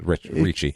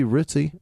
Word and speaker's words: Ricci: It could be Ritzy. It's Ricci. I don't know. I know several people with that last name. It's all Ricci. They could pronounce it different, but I'm questioning an Italian. It's Ricci.